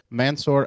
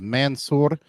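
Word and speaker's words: Mansoor: never before heard testimony from former Guantanamo prisoner mansor Adam uh and and I'm sure I mispronounced that I'm sorry audience his name is Mansour uh m-a-n-s-o-o-r uh uh adafi a-d-a-y-f-i who was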